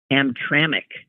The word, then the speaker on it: Hamtramck: She says it's pronounced Hamtramck. Oh, okay. Hamtramck.